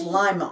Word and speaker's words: Lima: down to Ohio and it's pronounced Lima Ohio and I don't remember who was it told me that I am I like the lima beans she said thank you